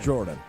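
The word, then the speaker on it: Jourdon: Pronounced Jordan.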